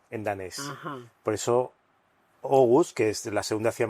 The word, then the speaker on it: Aarhus: doble A se lee O en danés. Ajá. Por eso Aarhus, que es la segunda